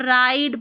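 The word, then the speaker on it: ride: यहाँ पर राइड पढ़ा, इसको रिड नहीं पढ़ा, राइड क्यों पढ़ा? लास्ट में हमारा ई है जो साइलेंट रहता है, जिसको मैजिक ई बोलते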